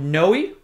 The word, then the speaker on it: Noe: name it's the Salvatore famo noi is how you pronounce it noi high top leather sneaker